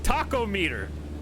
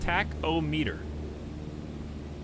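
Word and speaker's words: tachometer: does everyone keep saying taco meter what meme is that all right flaps up why are we losing that was not a very smooth takeoff but it's fine it's pronounced tack oh meter no the timer doesn't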